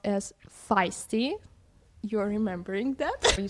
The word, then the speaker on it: Feisty: I was reading it as feisty. It's actually pronounced as feisty.